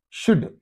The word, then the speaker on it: should: are not saying so these two things are not pronounced they are silent okay but and the